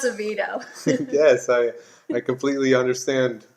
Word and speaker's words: Oviedo: don't know this one I did look up its Oviedo that's the anglicized pronunciation originally it was oh yeah Wow but now it's a Vito yes I I completely